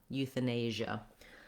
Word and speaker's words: euthanasia: Sh, ja, Asia, euthanasia. Yeah, that's actually, it just is just like the word Asia at the end. So if you can say Asia, you can add it here to euthanasia.